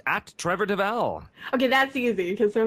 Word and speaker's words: Devall: my name they always spell it like it's pronounced Duval but it's not Duvall it's Deval so it's deev and for the any of